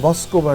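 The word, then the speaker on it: Москва: ওরা শুরুতে যেটা করেছিল যে 300 সাংবাদিকের জন্য তারা এই ওটাকে বলে মস্কোভা রিভার। মস্কো রিভার যেটা ওটা মস্কোভা রিভার ওরা বলে। ওরা ভ উচ্চারণটা প্রায়ই চলে আসে ওদের সবকিছুর মধ্যে। এই মস্কোভা রিভার একটা ক্রুজ দিয়েছিল।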